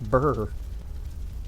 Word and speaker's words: brr: So yeah, it's just pronounced burr.